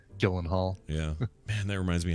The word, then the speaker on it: Gyllenhaal: there much they much they've become accustomed to the Americanization of their name and so it's like no just say Gyllenhaal yeah and that reminds